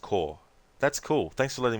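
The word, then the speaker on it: Kaur: Afro, it's pronounced Core, the last name. Oh, really? Okay, so you don't need to try and pronounce the A and the U in it, so it's just Core.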